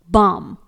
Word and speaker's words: balm: अगला वर्ड है बाम, BALM, यहां पर L साइलेंट रहेगा, इसे बलम नहीं पढ़ेंगे।